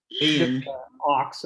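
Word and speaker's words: Ochs: Ox, O-X.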